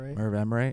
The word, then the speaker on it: Merv Emre: Merv Emre.